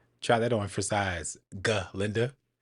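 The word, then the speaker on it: Glinda: Linda. Actually, it's G. Linda with a G.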